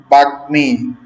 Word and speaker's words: বাগ্মী: গংটনমলের সাথে ম যুক্ত হলে উচ্চারণ ও এর মতো হয়। যেমন বাগ্মী, যুগ্ম আহ্বায়ক, তিনি বিএনপির যুগ্ম আহ্বায়ক, ঠিক আছে।